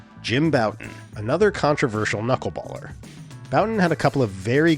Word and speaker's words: Bouton: His name is spelled like the French word for button, Bouton, but at some point it became the more Anglo-friendly Bouton.